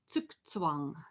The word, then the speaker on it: Zugzwang: And it's actually pronounced Zugzwang.